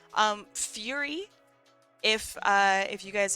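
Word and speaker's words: Furi: Um, Fury. If uh if you guys have ever heard of Fury, it's it's spelled Fur Ri.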